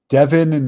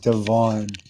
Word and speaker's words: Devon: Devin. Okay, it's actually pronounced Devon, or it's spelt Devon, Devon.